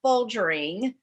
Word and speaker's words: Folgering: This is Kelly Anderson, Biohacker mom, and I'm so happy and thrilled today to have Folgering. Did I pronounce that correctly?